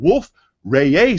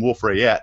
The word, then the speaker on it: Wolf-Rayet: kind of star called wolf-rayet stars I always want to use my southern accent and call them wolf ray yet but I just I guess I'll use a correct pronunciation today but in particular we're